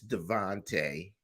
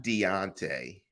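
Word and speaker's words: Davante: I'm messing up names it's Devonte not Deontay uh hey man I'm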